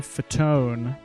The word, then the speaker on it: Fatone: This is Joey Fatone, is apparently how it's pronounced. And he's a member of the boy band NSYNC. And his last name looks like it's spelled Fat One.